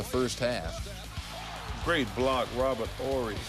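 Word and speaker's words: Horry: Great block, Robert Ory. Ori, however you pronounce his name. No H. Oy. I mean, there's an H, but you don't say it.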